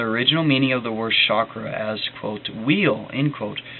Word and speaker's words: chakra: right under it and that's pronounced of the CH as in church hence the English spelling chakra the word also has